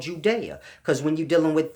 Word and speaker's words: Judea: Because when you're dealing with the Sumerian text, it's spelled G-U-D-E-A. And they didn't have J's back in those times. So you have to grasp. The G took on the J sound.